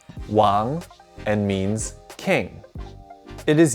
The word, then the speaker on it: 王: This character is pronounced wáng and means king.